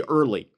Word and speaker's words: Erle: And, by the way, his name is spelled e a r l e, so it easily could be Erly.